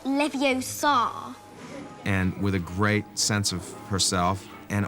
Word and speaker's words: Leviosa: in the books intelligent you're saying it wrong it's Leviosa not Leviosa great sense of herself